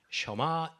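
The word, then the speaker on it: שמע: 어 히브리어로 보통 쉐마 셔마 우리가 보통 이제 한국에서 쉐 쉐마 이렇게 이제 적은 것을 보는데 예 발음은 쇼마 이스라엘 이렇게 이제 하죠.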